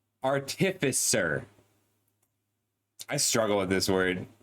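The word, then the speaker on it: artificer: Artisifer artifiser. I struggle with this word. I've been reading it as Artisifer for 20 years and been saying it wrong the whole time.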